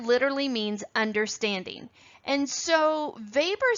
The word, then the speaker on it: Weber: the last name is weber but it is actually pronounced in its german origin weber as if spelled v-a-b-e-r so from here on